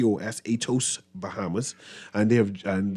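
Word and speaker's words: Aetos: Greek company and I I always try to pronounce that name atos I think let me a e t o s no yes atos Bahamas oh nice atos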